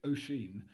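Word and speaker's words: Oisín: Then the other company you mentioned, actually the correct pronunciation is Oisin. It's a Celtic word.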